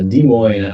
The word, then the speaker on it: Des Moines: i live in uh des moines iowa now don't pronounce the s and uh i don't know i guess i've been rocking with josh since i was 16.